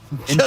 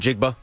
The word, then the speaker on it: Njigba: Njigba. Just to say it. This is Smith not... Njigba.